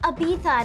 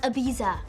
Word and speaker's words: Ibiza: It's pronounced Ibiza, not Ibiza.